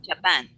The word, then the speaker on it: Japan: let's just practice this japan japan japan the stress is on the second syllable okay when you say